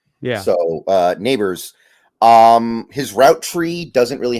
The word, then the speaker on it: Nabers: Like Nabers, I'm sorry, it's Nabers. Somebody told me it's pronounced like, your next door neighbor. Yeah. So Nabers.